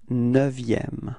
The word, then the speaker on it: neuvième: Repeat, le neuvième. Okay, be careful because this EU in neuvième is actually open. It's not E, but it's E. Okay, so it's neuvième.